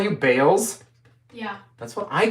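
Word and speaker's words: Bails: Did she call you Bales? Yeah. That's what I call Bailey. How dare you? B-A-I-L-S. Yep, Bales.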